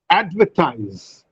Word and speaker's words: advertise: Advertise. Right. Advertise. Now, add. In advertise, there are three syllables, but the first syllable receives greater breath force, and therefore we say that this is a stress syllable.